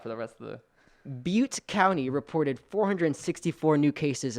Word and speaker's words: Butte: chico returned to school butte county is that you pronoun pronounce it booty b-u-t-t-e i think it's butte yeah i wasn't going to